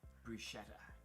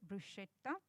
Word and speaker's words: bruschetta: not the case like double t is double t so you should pronounce the pasta it's so